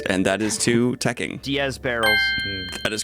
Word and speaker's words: Diez Barrels: Diaz barrels. That is correct. Technically pronounced Diez barrels.